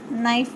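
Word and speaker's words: knife: जैसे यहाँ पे देखो नाइफ, के इसमें के है वो साइलेंट है बच्चों इसलिए हम इसको नाइफ बोलेंगे यानी चाकू, KNI।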